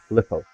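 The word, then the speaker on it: Qliphort: No, not Quillfoss, Glyphos. That's how I've been told that they're pronounced as Glyphos.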